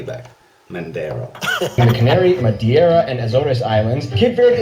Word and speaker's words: Madeira: Africa, including the Canary, Madeira, and Azores Islands. By the way, you said Madeira, it's Madeira. Bro, why did everyone get that name wrong?